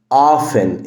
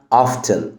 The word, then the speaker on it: often: often ال T هنا silent بس صراحة في نطق تاني في الامريكان accent انك ممكن تنطق ال T وتقولها often. often يبقى often او often يعني عادة.